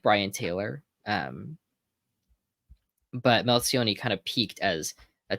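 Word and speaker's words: Melchionni: I actually am kind of more interested in his predecessor, Melcioni, Bill Melcioni, Melchioni. Got to nail the Italian pronunciation.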